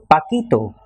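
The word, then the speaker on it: Paquito: that that is why Spanish requires a spelling change to maintain the sound so Paco becomes pakito with a p a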